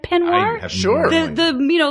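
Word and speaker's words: peignoir: all very costumey um penir penir that's how it's pronounced right penir sure the the you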